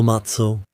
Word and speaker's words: Matze: Hello Matso. Hello. Greetings to all of you. I pronounced your name sloppily. Of course, it's Matso.